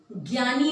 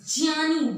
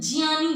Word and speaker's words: ज्ञानी: में पक्का कर लीजिए ज्ञानी नहीं ज्ञानी ज्ञानी होता है ठीक है ये संस्कृत से आया है इसलिए वहां ज और य से मिलकर बना है इसलिए ये ये ग और य का इसमें कोई योगदान नहीं है अब बच गया